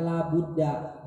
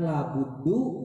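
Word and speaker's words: لا بُدَّ: Buddha itu menjadi isimnya la, sehingga kita bacanya la Buddha, bukan la buddu, bukan la buddin, bukan la buddun, bukan la buddan.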